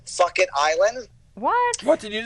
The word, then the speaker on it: Phuket: The accent is on the wrong syllable.